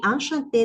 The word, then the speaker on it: enchantée: No hay diferencia en la pronunciación porque la E no tildada no tiene ningún protagonismo.